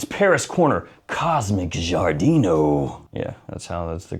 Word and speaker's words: Giardino: Check it out, it's Paris Corner Cosmic Giardino.